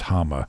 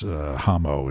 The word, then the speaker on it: Hama: There's that one scene where Trowbridge mispronounces Hama and says Hamo instead.